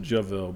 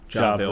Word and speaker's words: Javil: And then most people pronounce it Javil, but it's actually Ja. Javil.